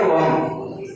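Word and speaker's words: womb: नहीं निकलता है, तो हम इसको क्या पढ़ेंगे, वॉम, क्या पढ़ेंगे, वॉम।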